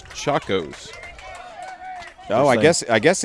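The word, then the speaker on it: Chacos: foul tip back into the screen got a pronunciation on the sandals it's chakos oh I guess I guess it I guess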